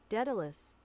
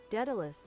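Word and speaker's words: Daedalus: I don't know why Datalus came.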